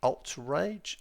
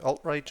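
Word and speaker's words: Attrage: It is a Mishabishi Alt Rage. A T R A G E. So, Alt Rage, I think it's it's how you pronounce it.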